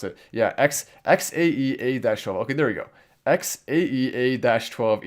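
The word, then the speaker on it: X Æ A-12: X-12 is how you pronounce it. Yeah, XAEA-12.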